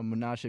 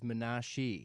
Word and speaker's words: Munashe: you pronounced it as Menashi. Yes, or yeah. Menashi? Yeah. Yes. So that version was like kind of like so Munashe is like how my mom and my family call me because that's the phonetic like Zimbabwean Shona version.